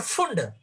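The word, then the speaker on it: Pfund: और फंड देखो स्पेलिंग होता है पी लेकिन पी साइलेंट होता है। इसको कहते है फंड सीरीज। कुछ लोग इसको फंड बोलते है पर फंड नहीं बोलना चाहिए। फंड है ये।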